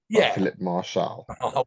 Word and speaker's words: Martial: And not having thrown in a few goals Martial with a silent T.